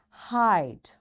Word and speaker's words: hide: It's before, give, hide, write. Yes, my dear children, have you noticed this letter E is there but we don't say it?